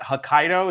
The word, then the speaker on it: Hokkaido: anywhere else and that's uh that's is that Hokkaido is that how you say it yes okay